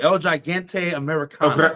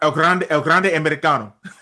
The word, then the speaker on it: El Grande Americano: I always get his name wrong. El Gigante Americano. El Grande Americano.